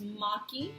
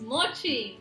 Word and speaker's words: mochi: pronounce it okay yeah I say it's I was saying that it's Maki and Marty is mochi watching we looked it up in our news right yes not mocking outside of that Maki so